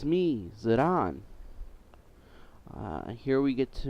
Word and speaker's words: Zidane: until uh the Brit the English football player's name zidane was pronounced on American television in news articles and